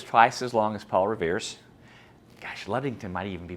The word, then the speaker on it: Revere: And Revere, because his name rhymes with career and steer and here, is the one that we remember.